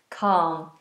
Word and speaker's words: calm: that right that's right l in calm is silent so you just do a wide r calm ah Amal has just